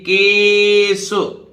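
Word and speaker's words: case: तो देखिए इसी तरह एल्स, एल्स माने अन्य, और इसी तरह देखिए केस, केस, SE से सा, मतलब ई तो वैसे साइलेंट रहता है, एस से सा, तो केस कोई विशेष घटना या स्थिति बनती है, कारण, ठीक है।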